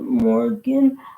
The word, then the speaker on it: Moragain: Kind of how with your help more aen, but I pronounce it Morgan.